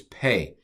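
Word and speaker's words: פ: When it doesn't have the dagesh, I pronounce it F. So P, F. And the name of the letter is pay.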